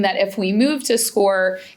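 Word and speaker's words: SCOIR: It's spelled a little funny. S C O R. So, it's SCORE, um, is how you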